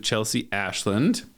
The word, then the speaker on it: Chelsea Ashland: With me today is my patient, ChelseaAshland.